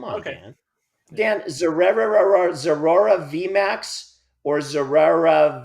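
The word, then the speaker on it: Zeraora: And I think it's Zera Aura, I think is how you're supposed to pronounce that one.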